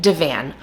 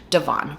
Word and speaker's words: Divan: together today is chicken Divan, which I have now looked up how to say it, but throughout the entire video, I say it incorrectly. I say chicken Devon, but I know you guys will forgive me.